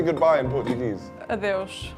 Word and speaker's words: adeus: Adeus. Adios. Oh, I think I've heard that before. Adeus, that's better.